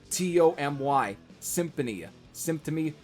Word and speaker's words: Symptomy: of Perverse Thoughts from Symptomy, yes, that's how it's spelled, S-Y-M-B-T-O-M-Y, Symptomy, whatever.